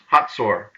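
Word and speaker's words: Hazor: H-A-Z-O-R is pronounced Hatzor.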